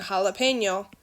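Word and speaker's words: jalapeño: so like for example when we're saying jalapeno this sounds like an h when you say the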